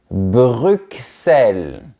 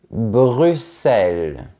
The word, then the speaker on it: Bruxelles: On entend bien le son X Bruxelles. Je pense que les Belges ne vont pas être contents parce qu'ils ne prononcent pas le nom de cette ville comme les Français. Eux, ils disent Bruxelles. Bruxelles.